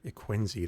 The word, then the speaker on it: Quenzi: Quenzi, that's how you pronounce it.